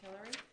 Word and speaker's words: Tillery: come on versus kimbrough tillery so by the way is it is that how it's pronounced hillary yes that's what i thought it